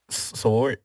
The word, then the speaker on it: sword: obviously oh a sword sword how you say it a sword like lord slow it why do